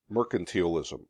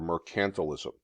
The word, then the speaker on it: mercantilism: the age after all of mercantilism or mercantilism you can pronounce it either way colonies the idea in